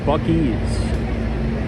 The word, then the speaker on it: Buc-ee's: Oh, someone says it's pronounced Buc-ee's.